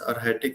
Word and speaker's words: Arhatic: She's practicing pranic healing and arhatic yoga. Is it rightly pronounced? Arhatic yoga?